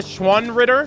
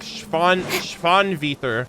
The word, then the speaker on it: Schwanritter: I call them the Schwanritter, but like I guess the proper pronunciation is like Schwanviter, which is like like German, it means like swan knight.